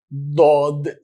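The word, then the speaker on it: ضاد: weird okay but that is like d in english but a very very very strong g so it is dodd okay it makes a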